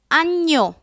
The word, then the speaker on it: agneau: G-N has the Ñ sound. Cygne, C-I-G-N-E, cygne. Agneau, A-G-N-E-A-U, agneau.